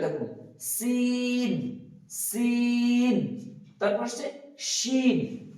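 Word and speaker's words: شين: তারপর আসছে শিন, এটাতে কিন্তু ওই সিটিটা নেই, শিন, শিন।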